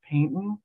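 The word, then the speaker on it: Paignton: production of it in, I think it's pronounced Paynton.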